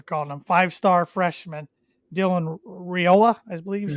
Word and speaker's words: Raiola: They do have Boy Wonder, as their fans are calling him, 5-star freshman Dylan Raiola, I believe is how you pronounce his last name. Raiola.